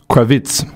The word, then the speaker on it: Kravitz: Kravitz.